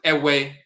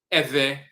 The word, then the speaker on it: Ewe: In the Ewe language, some of them pronounce it Ewe, E-W-E, and you have some that pronounce it Eve, Eve with a V.